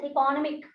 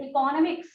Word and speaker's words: economics: Many of them pronounce economic. They pronounce it economic. Dear children, it is wrong. It is not economic. It is not economic. It is economics. You have to add the letter S with economic.